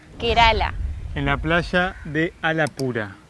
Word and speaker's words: Alappuzha: en la playa de alap pura alap pura al pusa se escribe pero se pronuncia la pura no es una playa